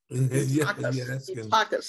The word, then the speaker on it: Eutychus: And in a window sat a certain young man named Eutychus." Am I pronouncing it, Pastor Sam, correctly? Eutychus, okay.